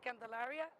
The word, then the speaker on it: Candelaria: Now, and part of this, your name again, but spell your name, pronounce it and spell your name. Yeah, my name is Candelaria.